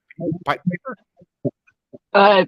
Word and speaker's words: Pieper: I'm gonna say, did I pronounce this right? Pieper? Pieper, yes, that's right.